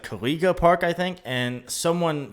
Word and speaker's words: Kuliga: It's definitely Kuliga. Or again, one of the other 2 pronunciations I've determined to be acceptable. There's not a secret U there at the end to make it Kaluga. Okay? Like beluga whale.